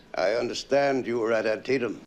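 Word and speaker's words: Antietam: understand you were at antium antium that's how you pronounce it okay I'm glad I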